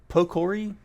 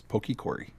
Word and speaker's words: Pokikori: Pokori, I never know how to pronounce the name. Pokikori. Pokikori. Pokikori. He corrected us once. It was Pokikori.